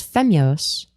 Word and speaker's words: femyoz: Whereas femyoz, it's pronounced how it's spelled.